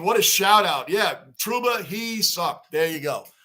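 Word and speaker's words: Trouba: on Ron Dane what a shout out yeah truba he sucked there you go that is the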